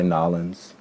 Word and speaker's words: New Orleans: i've lived there but new orleans and some people say nollens and sometimes i'll probably